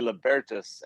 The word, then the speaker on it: Libertas: so that's libertas correct we say yeah we say libertas and when i started it i had no idea how to pronounce it i asked a linguist and he's like well it's a dead language you know there's two schools of thought it's the the kind of anglicanized germanic libertas uh which is how